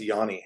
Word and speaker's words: Giannis: You got Simon Roy, Giannis, Farrell Dalrymple, Oh yeah, and it's Yanni is the weird way his name is pronounced.